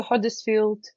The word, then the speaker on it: Huddersfield: yeah I moved to Huddersfield um I love the way you pronounce Huddersfield it's a you not an O I heard so many